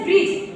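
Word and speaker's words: bridge: पहले समझ रहे हो जब जी के पहले डी साइलेंट होता है हमेशा जी के पहले क्या हो जाएगा डी आपका साइलेंट हो जाएगा ओके जैसे ब्रिज क्या बी आर आई डी जी ई होगा ठीक है जी ई टी जी के पहले क्या आया है बेटा डी आया है जी के पहले क्या आया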